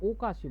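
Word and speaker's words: おかしい: এটা হবে ওকাশি। বুঝছেন? এটা ওকাশি হবে। এখানে আকাশী হবে না যত সম্ভব।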